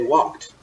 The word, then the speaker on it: walked: why did we say walked what letter in English makes that say it's not II D hey we pronounce it with a T sound and think about other